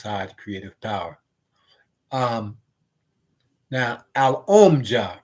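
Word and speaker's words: Alomja: Because how they spell it is A-L is al, and then there's O-M, om, and then there's J-A, ja.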